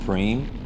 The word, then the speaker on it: prime: what a prime is it's spelled prime pronounced preem but basically it's a